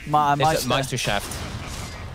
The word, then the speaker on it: Meisterschaft: Is it a German word? Meisterschaft. Yeah, I think that's right. That's how you'd say it. Okay, I don't know. Sometimes I just... No, that's good. Terrible. I think that's pretty good German pronunciation.